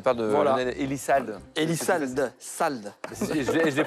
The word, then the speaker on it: Elissalde: Elisald, salde. Je l'ai prononcé, je te le dis.